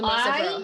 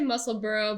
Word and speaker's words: Musselburgh: It's still the muscle burrow hat, so go for it.